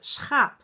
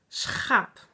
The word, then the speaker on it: schaap: And you say it like schaap. Schaap. I know for a lot of people, in a lot of languages, you don't say the word, you never say g. It's from here.